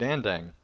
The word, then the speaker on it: Andang: they've mispronounced it um they just don't realize that it's the like the second part's dang and so they try